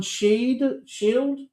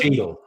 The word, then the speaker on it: Cheadle: Macy, Burt Reynolds, John Shield. How do you pronounce it? Cheadle.